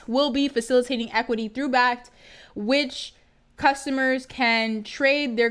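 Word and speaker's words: Bakkt: So Bact is how it's pronounced.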